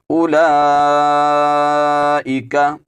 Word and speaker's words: أولئك: والذین آووا ونصروا اولئک، یہاں پر حمزہ کے اوپر پیش ہے، اس کے بعد جو واو آ رہی ہے اس واو کا بھی آپ نے تلفظ نہیں کرنا، یہ واو خالی ہے، اس کو ہم بالکل نہیں پڑھیں گے۔ اولئک، یہاں پر لام